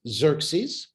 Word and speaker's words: Xerxes: assuming it is Xerxes, which we totally mispronounce, because the X is not supposed to be pronounced as an X. It's more like a chet, it's a closer pronunciation of the way it's supposed to be said.